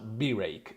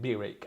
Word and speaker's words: Birake: burek coil master node we're a bit undecided whether to pronounce be recalled by Rick that's not really issue however apparently the developers do pronounce it as B rake so for the sake of that we will call it B rake as well anyway when you